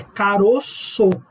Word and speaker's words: caroço: No singular, você faz um timbre fechado, um timbre grave. No plural, você faz um timbre aberto, agudo. É caroço.